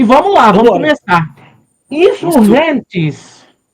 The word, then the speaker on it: Insurgentes: Insurrentes. Insurrentes. Que eu que eu não sabia que era essa pronúncia. Eu eu sempre falei insurgentes ou algo do tipo e não é mesmo.